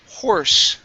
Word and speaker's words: horse: Next up, we have the word horse. Okay, now curve your tongue up for the R to pronounce the R sound.